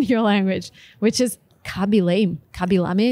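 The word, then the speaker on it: Khaby Lame: Kabilame is the right way to pronounce the #1 TikToker.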